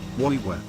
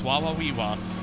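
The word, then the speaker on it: Wawaweewa: Woiwa. Woiwa. Damn it, Brian, you're supposed to say it properly. It's Wawawiwa.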